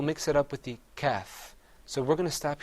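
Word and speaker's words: كاف: Another difference is that the qaf is pronounced full-mouthed. You kind of purse your lips a little bit. You say qaf. Whereas the kaf, you open your mouth up.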